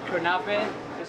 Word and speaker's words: kanafeh: But we had a new experience with the kunefi. I don't know how to pronounce That's it all right. correctly. Don't worry. Turkish dessert, kunefe.